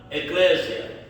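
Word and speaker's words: ἐκκλησία: Ela tem origem no no grego e quer dizer ela, a palavra em si é pronunciada eclésia, que quer dizer tirado para fora.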